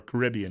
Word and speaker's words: Caribbean: was running an island in the Caribbean or Caribbean if you prefer that pronunciation where they were essentially